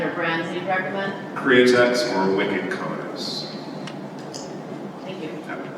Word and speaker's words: Createx: Createx, C-R-E-A-T-E-X. Like create one with an accent.